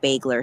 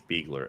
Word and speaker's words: Bagler: obituary for Nicholas Nick bagler surfaced online announcing his P by the way I hate that she intent she didn't pronounce his name correctly it's Beagler everybody knows that just two days earlier